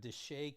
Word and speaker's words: DSHEA: If you want to know more about DSHEA, and I pronounce it DSHEA, I don't know if other people do, but I have a tendency to pronounce my acronyms.